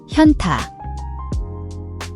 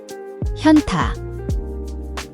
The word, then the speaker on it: 현타: The hyeon has a H sound that is very soft, almost swallowed, especially when preceded by another sound. It's not a hard H like in hat.